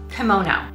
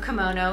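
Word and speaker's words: komono: the hook and um no because this type of kimono is spelled k-i-m-o-n-o and it is the official dress of japan this other type of kimono spelled k-o-m-o-n-o and that is the japanese word for small article or accessory what we usually refer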